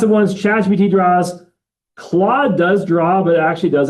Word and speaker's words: Claude: C L A U D E. Like the French name like Claude, the old French president, right?